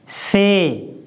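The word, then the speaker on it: say: जैसे SA, बाई, तो हम इसको क्या पढ़ेंगे, से।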